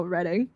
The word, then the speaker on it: Reading: There's a place in the UK called Reading, but pronounced the same way. Oh, Reading.